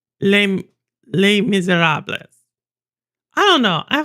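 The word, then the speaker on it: Les Misérables: Because I don't pronounce the S. Les Miserables.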